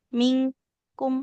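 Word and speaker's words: منكم: Mingkum se walaupun kaf bukan tebal ustazah gitu. Ee dia enggak tebal ibu. Ming lebih bunyinya kayak eng.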